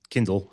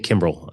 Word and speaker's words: Kindle: I you know, Ben Kindle had Kindle. I keep saying Kimell.